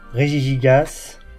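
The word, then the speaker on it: Regigigas: Bien le prononcer le régig très important, il arrive pas à le prononcer, c'est moi je le prononce très bien parce qu'il faut faire faut faire régie et gas quoi.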